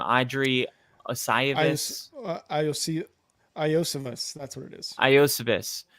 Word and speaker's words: Iosivas: I can never pronounce this guy's name. Adri Iosivas. Iosivas.